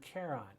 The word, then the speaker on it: Charon: next image this is Pluto's largest moon Charon or char on both pronunciations I've heard through the center part